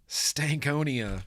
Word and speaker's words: Stankonia: 90s metal Mory Peak 90s that's the correct pronunciation of Stankonia Stankonia that's cool I'm expecting I better be making